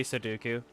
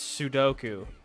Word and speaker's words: sudoku: Suduku. It's sudu sud. It's sudoku.